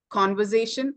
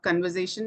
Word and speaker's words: conversation: It is conversation and not conversation in some pronunciation errors.